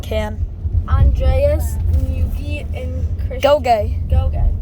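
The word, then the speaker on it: Ngugi: Go-gay. Gogay. Wait, but it's spelled N-G-U-G-I. That's how it's pronounced.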